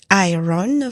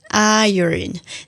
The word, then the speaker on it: iron: Fanoratana azy io hitanao io izany hoe tsy iron fa iron.